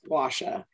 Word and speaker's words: gua sha: I mispronounced this for so long, but it's a rose quartz gua sha.